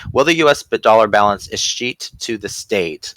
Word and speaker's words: escheat: Dollar balance, how do we pronounce it? Escheat? E-S-C-H-E-A-T?